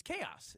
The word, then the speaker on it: chaos: It's chaos. It's Chaos. just like it's like chaos. Like chaos. Chaos. Is it one syllable or two? Chaos. It's Two syllables.